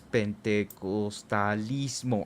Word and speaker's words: pentecostalismo: sí, es de Pentecostés, pero es pentecostalismo.